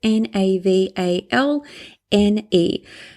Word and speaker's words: Navalny: So I'm going to spell it out for you. It's Navalne.